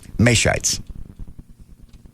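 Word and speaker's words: Mateschitz: M-A, May, T-E-S, Tess, C-H-I-T-Z. Shites.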